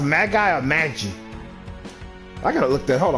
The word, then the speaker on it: Magi: at it's pronounced Magie oh I think it's pronounced Magie Magie trials mag guy how how often did I say mag guy trials Wow Let's pronounce Magi Magi Magi Magi Magi Magi Magi Magi Magi Magi Magi let me make sure manie they just